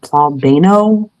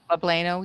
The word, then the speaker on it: poblano: Like I had this I don't know how you say it, plabano peppers. Poblano, yeah.